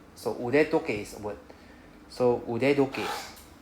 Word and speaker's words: 腕時計: We have to change the 時計 to the D sound, 時計. So in Japanese it's normal. So we change the sound of T to D whenever it is like inside another word.